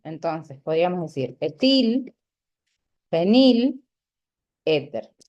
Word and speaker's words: éter: Entonces, podríamos decir etil, fenil, éter. va con acento en la E, perdón.